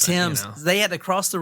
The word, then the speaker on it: Thames: For those crazy British people, it's pronounced Thames. Thames.